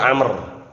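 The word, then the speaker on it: عمرو: Kok bisa memastikan antum ada wawu di sini?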